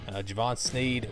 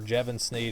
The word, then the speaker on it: Jevon Snead: pretty good that year Javon Sneed was the quarterback or Jevon Snead I thinks what Holley pronounced it I think they won't